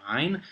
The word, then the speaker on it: ع: The power was cut by an asifa, which is a storm, and gives us our next letter, ain. This is what rappers make when they say ait.